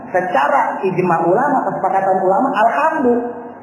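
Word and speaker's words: الحمدُ: ijm ulama kesepakatan ulama alhamdu enggak boleh alhamdi Enggak boleh alhamda tapi ada yang baca alhamda ada yang baca alhamdi Tapi tidak disepakati ulama begitu ya ya barangkali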